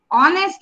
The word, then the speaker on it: honest: H is silent in honest. So it is honest like an orange.